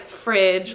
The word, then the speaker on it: FREDG: exactly fridge foods are it's pronounced like fridge like refrigerator because it helps you remember it and it's the acronym